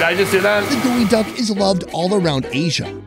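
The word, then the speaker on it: geoduck: for one big reason first off it's pronounced gooey duck can you guess why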